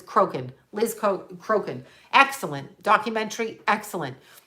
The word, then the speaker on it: Crokin: I want to keep calling her Cochran, but it's Crokin.